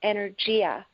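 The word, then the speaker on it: אנרגיה: Energy in Hebrew sounds very much like energy in English. It's pronounced energia.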